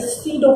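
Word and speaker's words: pseudo: एज I wrote earlier that is सीडो force. यहाँ पर P silent है और स्यूडो फोर्स जो होता है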